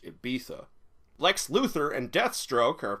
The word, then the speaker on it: Ibiza: and somewhere in Monaco Ibiza it's pronounced Ibiza Lex Luthor and Deathstroke